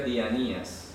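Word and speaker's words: διανοίας: Entonces aparece la palabra dianoias. Se escribe dianoias, pero se pronuncia dianías.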